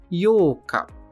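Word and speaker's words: ようか: especial para ele que é o yoka yoka que é a sílaba Yo com o prolongamento yoca o penúltimo candid de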